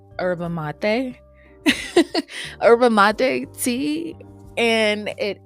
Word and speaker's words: yerba mate: But I do not want to mess this up, but I believe it is said or pronounced as your yerba mate.